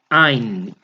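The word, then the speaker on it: עין: Essa letra não tem som, gente. Ain.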